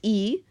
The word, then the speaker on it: y: Because remember, the word Y, you pronounced E in Spanish, is the letter and, as the word and.